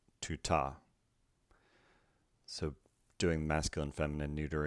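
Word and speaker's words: τοῦτο: The neuter form, tau, diphthong pronounced oo, tau, omicron, tuta.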